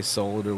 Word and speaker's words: solder: think it's disgusting that I say solder with it D like it's supposed to be that's right that's how